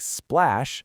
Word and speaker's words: splash: We'll take a word like splash and throw an S, a P, and an L right at the front. Splash. Three consonants, no breathing room.